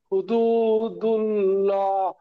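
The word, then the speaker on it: حُدُودُ اللَّهِ: হাফে সুহু, দাল ওয়াও পেশ দু, হুদু, দাল্লাম পেসলু, হুদুদুল, লাম খাড়া ওয়াল্লা, হুদুদুল্লাহ, হাজেরহি, হুদুদুল্লাহি।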